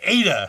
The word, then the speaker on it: Eide: And we were very lucky to find, out in the parking lot today calling me, Eide. Thank you for the pronunciation.